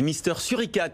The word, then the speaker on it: Mister Suricate: Je rappelle votre entreprise Mister Suricate à prononcer à la française.